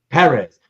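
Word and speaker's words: Pérez: kind of tell people it's Perez he even published a book of his art like in the late 70s early 80s called Perez Accent on the first e nice I like that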